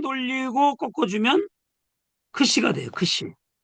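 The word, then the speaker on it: ξ: 두 번 돌리고 꺾어주면 크시가 돼요. 크시. 이 글자를 잘 눈여겨보고 요 글자는 이중자음이다라는 거 기억하셔야 돼요. 왜냐? 키어가고 시옷 두 개의 발음이 들어있어요. 이 안에는.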